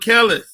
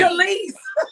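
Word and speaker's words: Kelis: What's her name? Khalees. It's Khalees. I don't know what the hell her name is. He said Kellis. I'm like, who the hell is Kellis? Okay. It's Khalees.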